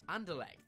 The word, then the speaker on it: Anderlecht: that's ever been put out on the internet anderlecht that's the one why can i say that